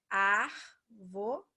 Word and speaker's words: árvore: Aqui é o caso de árvore. Ó, árvore, né? 3 sílabas. Só que o mais forte é o A, então ela é proparoxítona.